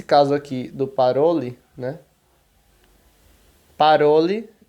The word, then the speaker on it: parole: Então, o estresse, a tônica da palavra vai ser o ró. Então, você vai falar parole e não parole ou paroli. Não, parole, né? Enfim. Parole significa falar, né?